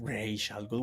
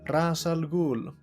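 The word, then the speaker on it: Ra's al Ghul: It's not Ray Shalul. Why would it be pronounced R. It's It's Ras. Ras alul just like in the the Nolan movies actually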